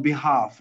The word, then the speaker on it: behalf: good now uh uh on behalf not on behalf on behalf of behalf so the late is not pronounced all right on behalf